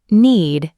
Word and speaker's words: knead: Knead means to push, press, and fold dough with your hands to make bread. The K in this word is silent.